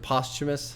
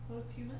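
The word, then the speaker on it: posthumous: it being you know I can never say this word postumus I suppose that's how you're supposed to say it postumus huh post humus Don't make me say it that way because I say it wrong that way post humus it just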